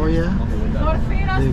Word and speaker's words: Oia: Oia. They pronounce it Ia Oia.